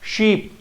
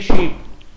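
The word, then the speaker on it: sheep: भेड़ वाला अपन लोगों ने बच्चों देखा है शीप, अक्सर पीपल इसको प्रोनाउंस करते हैं शीप। होता क्या है, शीप होता है, न कि शिप होता है।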